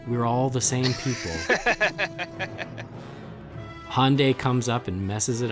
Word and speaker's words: Hyundai: said over here is he on day it's Hyundai it says so right on the friggin commercials Hyundai like Sunday and it's in and